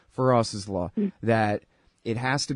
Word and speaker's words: Feras: be and you know call it Faris's law for us as law I'm sorry I'm saying his name wrong feroz's law that it has